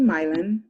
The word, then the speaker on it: Milan: so my name is it's actually milon but it's spelled like milan i'm originally from cleveland